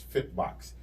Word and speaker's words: Fitbox: Fitbox is how you pronounce it. I used to say books too, but it's Fitbox. Fitboks.